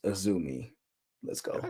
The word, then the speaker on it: Azumi: It's and it's pronounced Azumi.